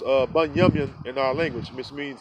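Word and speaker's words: בנימין: It's pronounced Bunyamin in our language, which means son of the righteous.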